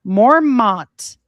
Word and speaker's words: Mormont: Mormont, pronounced Mormon, Belgium.